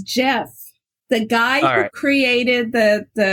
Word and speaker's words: GIF: for pronouncing that correctly just like the peanut butter is it gif or Jif it's Jeff the guy who created